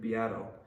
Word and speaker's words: Beato: this guy named Rick beato it's spelled like Beto b-e-a-t-o he makes really awesome